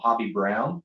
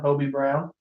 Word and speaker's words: Hobie Brown: only ever read it I always call him hobby Brown but it's only one beat Hobi e OB OB OB a ground Bobby Brown Hobie Brown but essentially it's an